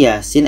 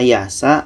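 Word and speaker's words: يس: dan yang di sini Yasin ayat 1 karena ini sudah biasa maka kita jarang yang salah kalau ada yang baca Yasa itu salah karena harus dibaca satu-satu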